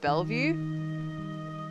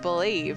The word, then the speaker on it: Bellevue: Linnie, that city is pronounced Bellevue? Oh, of course it is. I just thought it said believe, as in like believe there'll be something up here.